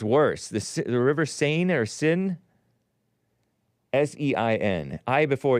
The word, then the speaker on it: Seine: The River Seine. S-E-I-N-E. But some people pronounce it sin, and I was calling it sign, so what a mess.